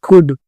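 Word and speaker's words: could: फिर यहाँ पे कुड, एल साइलेंट होगा।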